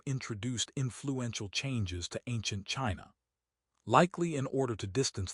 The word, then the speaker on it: Qin: 771-256 BCA46256 B.CE CE Chin pronounced Chin Dynasty 221-206 B.CE.